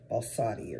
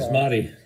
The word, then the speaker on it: basmati: Balsamic. No, not balsamic. Balsati or something like that. Oh. But it comes in a jar. Oh, basmati. Basmati. There you go.